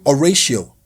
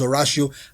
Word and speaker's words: Oratio: the name I was going to pronounce um is the name oratio oratio and three times in the recording I pronounced it as orao now this I wrote the script myself I checked the pronunciation I told myself make sure you pronounce it correctly and three times mindlessly I pronounced it as a ratio I had to edit